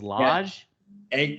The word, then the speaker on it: Lage: saying it right cuz he said it was large without the r is that correct so it's LJ oh you said it